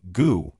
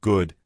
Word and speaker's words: good: Many learners drop the final consonant of words. They say goo instead of good, fin instead of fine, important instead of important.